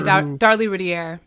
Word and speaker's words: Darlie Routier: Darlie Routier, I think is how you say her name, the woman the mother. Yeah, Darlie Routier.